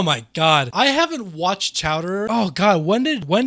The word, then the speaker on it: Chowder: be watching some chowder shout dear shout dear it's chowder say it right chowell and if